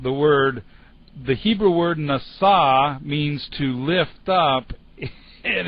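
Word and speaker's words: נשא: god over on the left-hand side anyway it's pronounced nasa and it means to lift up really not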